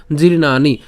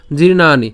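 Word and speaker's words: জীর্ণানি: ভুল না হয় হ্যাঁ আমরা জফলাকে আমরা দন্তান রসিকা অর্থাৎ নি এভাবে উচ্চারণ করতে পারি সেজন্য সেক্ষেত্রে আমরা এর উচ্চারণ কি করছি জিন্নানি ঠিক আছে এটা একটু ব্যতিক্র মনে রাখবেন জিরনানি জিরনানি ঠিক আছে এরপর তাহলে জিরনানি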